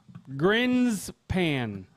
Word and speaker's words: Grinspan: Anyways, so today, coming in at number 10, I'm going to have fun pronouncing this. Herschel Grinspan. Grinspan.